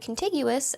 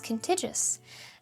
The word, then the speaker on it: contiguous: And I said, "I mispronounced the word contiguous as contigious."